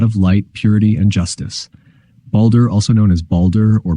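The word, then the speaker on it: Baldr: bold or Brave is spelled as balder in Old Norse often with an a with a ring above it indicating a long a sound celebrated as a paragon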